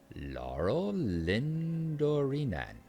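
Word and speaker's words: Laurelindórenan: Laura Lindoran. Laurel Lindorinan.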